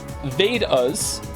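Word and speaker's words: Vedas: it's okay thank you Emperor chinoo the vadas pronounced vadas and upanishads your pronunciation was quite close are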